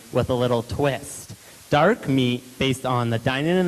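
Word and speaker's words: MEAET: The event is called MEAT, which is spelled M-E-A-E-T, and is about bringing together innovative ideas and people to collaborate in a meal setting.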